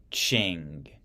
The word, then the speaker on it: Qing: King Rule King rule the manchus set up a new Dynasty called the ching they spelled it phonetically for me they don't spell it